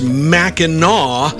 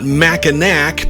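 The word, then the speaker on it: Mackinac: Kelly wrote to tell me that it's pronounced Meno, not Machinak, because it's named after Meno Island in Michigan, which he says is quote home to Amazing Fudge.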